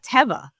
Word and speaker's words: Teva: So it is Teva. Okay, it is. Teva, the sandal brand.